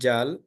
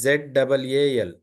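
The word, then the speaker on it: ذال: c c yeah here it is not Jal it is z a l zal zal z a l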